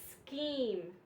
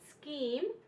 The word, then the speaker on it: scheme: it makes the C Sound and the H is silent so let's look at some examples we have ache ache schoolhouse Schoolhouse Christ scheme scheme Echo EK Echo and Chrome all of these